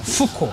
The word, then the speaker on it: Foucault: Foucault. Fuknya biasa aja. Oh, jangan pakai P.